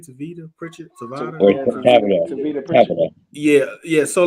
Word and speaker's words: Tavita: what I'm saying but and Aaron mentioned uh tavita that's how you pronounce his name tavita Pritchett yeah yeah so like okay okay like